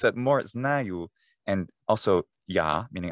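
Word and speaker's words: знаю: And which was fascinating to see that, say the word I know, which is spelled znaju, znaju. Well, it has an a, so I think, well, it's a. So I was saying znaju.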